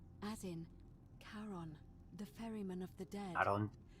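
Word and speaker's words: Charon: it's just as you described it only your pronunciation is a little off the name you heard wasn't karen it was c o n as in caron the ferryman of the dead who in exchange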